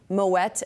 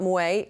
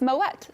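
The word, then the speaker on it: Moët: education, is that it is indeed Moet and not Moet, despite being French. Yes. Maybe because of the umlaut? Is that what's the... Yes, you're absolutely right. So Moet, you pronounce the T because the 2 dots over the E signify that you pronounce the T. It's Moet.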